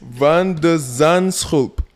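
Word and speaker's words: van de Zandschulp: Can you pronounce the name again? You want it? Want it? Yes. Van der Zandschulp.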